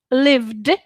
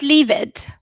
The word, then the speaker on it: lived: or international english right so lived not lived and not leave it god help you leave it